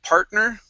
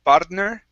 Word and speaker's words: partner: to uh the word partner okay control your tongue here instead of pardner k part partner partner